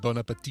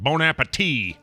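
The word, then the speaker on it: bon appétit: Yeah, you don't pronounce the final T. It's just the way he said it. He's like Bon Appetit.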